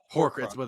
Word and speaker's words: Horcrux: How do you pronounce it? Horcrux.